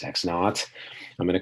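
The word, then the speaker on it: x₀: So I'm going to call a point x naught, x0, I pronounce this x naught.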